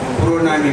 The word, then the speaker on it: Pronami: हमारा प्रणामी मंदिर वहाँ है, तो उसको प्रणामी मंदिर नहीं कहते, प्रोनामी मंदिर, PRONAMI ऐसा लिखा होता है, तो बंगाली प्रोनाउंसिएशन है।